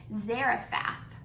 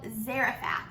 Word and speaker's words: Zarephath: the town I want to say it right Zarafa now that sub that's a fancy word so there was a town called Zarephath and he told Elijah to go there and